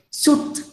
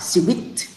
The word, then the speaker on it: suite: You can say suit. No, we say this one sweet, sweet. It looks like candy.